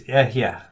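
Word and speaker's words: אֶהְיֶה: I am, in Hebrew, is ehyeh. That's how you say I am. And so the first time, God says to Moses, you're going to tell them, ehyeh has sent me to you.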